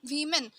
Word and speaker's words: women: हैं हम इसको वुमेन, और जब ये WOMEN हो गया यहाँ पर, तो हम इसको प्रोनाउंस करेंगे वी मैन। क्या करेंगे, प्रोनाउंस वी मैन।